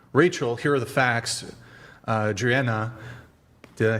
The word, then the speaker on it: Driena: Driena, did I say it right?